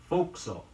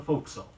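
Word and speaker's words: forecastle: will tell you that the preferred pronunciation for the term referring to the forward part of a merchant ship is fo'c'sle the spelling doesn't bear much resemblance to the pronunciation f o r e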